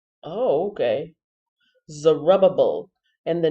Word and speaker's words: Zerubbabel: this dictionary and learn so the name is pronounced zerubbabel oh okay zerubbable and the name means offspring of babylon head